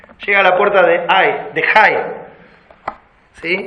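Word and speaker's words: Hai: Voy a pronunciar la H como si fuera una J, para que no parezca un dolor. ¿Sí? Llega a la puerta de Jai.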